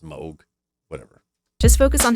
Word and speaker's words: Moog: mini Moog mini Moog I always say Moog because it's double G but it's supposed to be pronounced Moog whatever just focus on